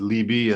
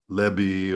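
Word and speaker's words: לִבִּי: to make sure that you pronounce it liby and not lebby or Lobby it's going to give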